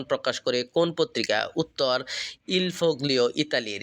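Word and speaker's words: Il Foglio: উত্তর ইলফোগ্লিও ইতালির। এটি স্থানীয় উচ্চারণ হবে ইলফও।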